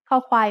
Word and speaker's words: ค: คอควาย makes the sound k when it's the initial consonant in a syllable. It sounds like the letter k in kite or the c in cup.